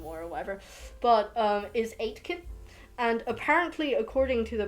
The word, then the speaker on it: Aitken: whatever but um is eight kid and apparently according to the person that has the surname aitken which is spelled a-i-t-k-e-n um a lot of people mispronounce it as atkin but i see that